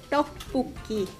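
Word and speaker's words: 떡볶이: Oh, very close. It's tteokbokki.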